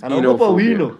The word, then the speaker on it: oenophobia: Yeah, actually, it's spelled O-E-N-O-B-H-O-B-I-A. Well, that sounds like a goddess. Oenophobia. So it's enophobia.